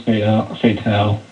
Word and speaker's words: Fatale: think this is pronounced Fatale. I'm just saying. I don't know for sure, but I hear a lot of people calling it Fatale. Huh. Yeah, actually, no, with the E it is Fatale.